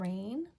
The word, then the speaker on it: rain: A is long, the second one is quiet.